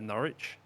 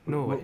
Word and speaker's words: Norwich: One that I stumbled over for many, many years was Norwich. Oh right, Norwich. Were you in Norwich?